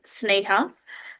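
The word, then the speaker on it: Sneha: Um I'm based, my name is pronounced as Sneighha.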